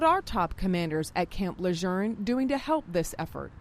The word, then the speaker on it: Lejeune: that our leaders in every public event that they go to have pronounced it the way it is meant to be pronounced. There are people in around this area that have grown up saying Leon and we hope that